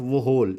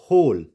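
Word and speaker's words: whole: कई जगह क्या होगा डब्लू साइलेंट होगा ड एओ हु डब् एच ओ एल ई होल इट्स नॉट व होल इट्स होल हुज एंड होम जैसे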